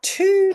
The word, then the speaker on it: two: English is the language that decided not to pronounce that W anymore, but the spelling kept that W.